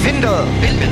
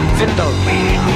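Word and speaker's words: Windel: Vindel. Yeah, we're pronouncing the W's with a V here. Vindel.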